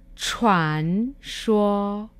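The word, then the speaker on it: 傳說: sua que significa leyenda wang xue que se pronuncia con la ce h wang shuo pasamos ahora a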